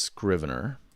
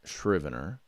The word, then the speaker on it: Scrivener: cool things about uh scrivener which is pronounced scrivener not shrivener sometimes i miss make